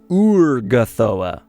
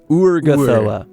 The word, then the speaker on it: Urgathoa: Or technically, as it's supposed to be pronounced, Urgathoa. Not Urgathoa. Like O-O-R. Urgathoa.